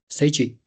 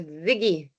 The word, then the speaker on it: Ziggy: Seiji. Is it the correct pronunciation? Afternoon, Prof. No, Ziggy. Like Ziggy. Z-I-G-G-Y.